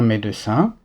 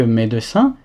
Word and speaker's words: médecin: acteur, un chanteur, un médecin, un infirmier, un policier. Note également que médecin est la prononciation standard. Beaucoup de français à l'oral, ils vont plutôt dire médecin.